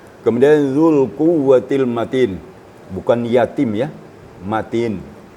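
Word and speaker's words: الْقُوَّةِ: bukan jadi mad Ya jadi cara bacanya Zul quwatil matin quwatil quah jangan dipanjangkan ya cuma itu sedikit sedikit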